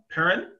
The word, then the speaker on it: Perrin: here with uh uh uh perrin did i pronounce that correctly yes you did nice um